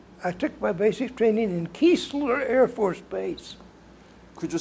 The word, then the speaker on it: Keesler: I left from, I took my basic training in Keesler Air Force Base. Could you spell it?